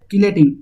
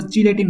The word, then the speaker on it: chelating: देखो कीलेटिंग, इसको चिलेटिंग मत बोलो, इसका प्रोनाउंसिएशन ऐसे होता है कीलेट, ठीक है। कैसे होता है, कीलेट, तो इसको हम लोग बोलेंगे कीलेटिंग, नॉट चिलेटिंग, ठीक है।